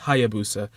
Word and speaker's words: Hayabusa: Then we have Hef with Hayabusa, which is, I said that kind of, that's not how you pronounce it. It's just Hayabusa. It's a Japanese word.